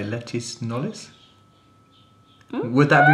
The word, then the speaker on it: Knollys: I was going to say Lettice Knollys. Would that be right? Oh, yes, except you probably pronounce it Knowles.